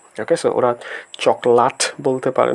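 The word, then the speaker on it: cokelat: ওরা just চকলেট দেখেন সি কে উচ্চারণ করা হয় চ এর মত এবং বাকি যা যেরকম ভাবে আছে ঠিক সেভাবে উচ্চারিত হবে। অর্থাৎ সি ও কে এল এটি হচ্ছে চকলাত।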